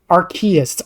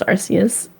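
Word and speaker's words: Arceus: Archus. R plus chaos. Oh, I thought it was Arus. Yeah, it's it's R plus chaos. It's It's R as in like arcane and then chaos.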